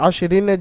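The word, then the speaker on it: عشر: এখানে রয়ের নিচে আশরিনের জায়গায় আপনি ওয়াক পড়ছেন, এখানে রয়ের উপরে থামছেন, রকে সাকিন করে পড়তে হবে। ওয়ালায়ালিন আশর, আশর পড়তে হবে, এখানে আশরিন থেকে আশর পড়তে হবে।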